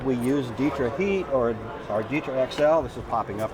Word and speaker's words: DITRA: - DITRA, yeah. - Every time I say it DETRA and people correct me, 'cause it's DITRA.